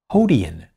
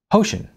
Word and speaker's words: Hoshin: This particular blotchy writing announced something called Hodian Night. What's Hodian Night? I asked, pointing toward the mysterious announcement. Hoshin, she replied, correcting my pronunciation. It sounds like ocean, only with an H in front.